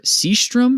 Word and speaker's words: Sjöström: It's a Swedish film directed by Victor Sjöström, I believe is how that's pronounced.